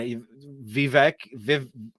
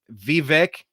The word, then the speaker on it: Vivek: The I mean what vivec Vivek good grief Vivek I think is how you say it Vivek I mean you